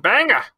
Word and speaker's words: Bangor: an hour south of Bangor okay I pronounce the Bangor as well but everyone around me has a main accent and they pronounce it Banger freaking oh Bengal Maine